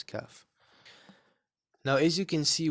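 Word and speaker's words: كاف: If you say the word ka in English, ka, and then just put the F at the end, right? So kaf, that's how you pronounce kaf.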